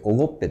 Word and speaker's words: 奥戸: 大将を越えてこの奥戸と書いておごっぺと読みますがえそこに